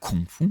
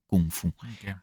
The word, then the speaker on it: kung fu: Et Kung fu euh pour le coup, il a écrit euh G F U Gfu. Donc pas fou mais kungfou.